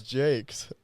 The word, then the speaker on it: Jacques: Do you think it's Jacques? It's his Jacques? No, it's Jake's.